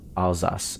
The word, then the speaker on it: Alsace: Now you pronounced it right, though. It's more Alsace.